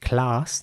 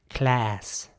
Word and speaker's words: class: at this stage that the word is indeed pronounced class not by everyone but by some class and in American English it would be more like class now again not everyone